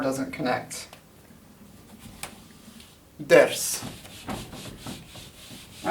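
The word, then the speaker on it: درس: And this is better pronounced ders.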